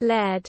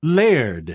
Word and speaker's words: laird: Laird. Okay, that was laird. It's kind of like lair, duh.